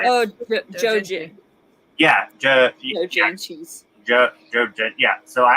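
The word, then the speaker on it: 同人誌: Like dodenchis? How do you say it? Oh, Dojinshi.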